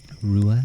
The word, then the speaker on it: Ruadh: I often say, Rua and Ua, like the DH is kind of silent, and then is